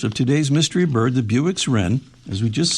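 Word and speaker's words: Bewick's Wren: Apparently, it is the Buick's Ren. Uh, not spelled like the car, but B E W I C K.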